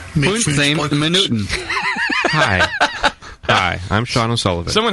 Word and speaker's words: Midtfyns Bryghus: Hi, in Denmark we pronounce Midtfyns Bryghus as Midtfyns Bryghus.